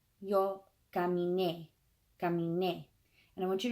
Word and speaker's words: caminé: not on the in, it's on caminé. So you got to really, when you're speaking it or you're reading it or whatever, you got to punch that last syllable, caminé, and make it very obvious so that people will